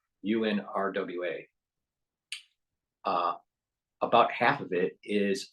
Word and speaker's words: UNRWA: And because of the UNRWA being investigated for improprieties and knowing and seems